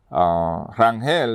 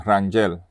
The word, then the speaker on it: Rangel: Rangel is actually German, and that's how you pronounce it, Rangel. Pero we say Rangel in Puerto Rico is, for a different pronunciation.